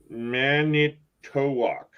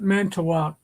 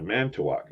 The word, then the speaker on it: Manitowoc: butler man manitowoc manitowoc but you'll hear him pronounce it mental out man well what they're making the eye silent mental walk yeah man to walk manny manny to walk is what you would think that's a local thing